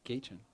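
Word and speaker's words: Gatjn: Uh my gay chin is spelled G A T J N. And it's pronounced Gchan or that's how I do it.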